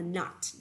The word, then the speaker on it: nut: Nhớ đọc là nut, đâu đọc là nút nhá.